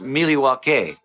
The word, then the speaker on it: Milwaukee: In fact, isn't Milwaukee an Indian name? Yes, Pete, it is. Actually, it's pronounced Milwaukee, which is Algonquin for the good land.